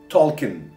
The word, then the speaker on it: Tolkien: John Ronald Reuel Tolkien. Oxford sözlüğüne göre okunuş bu.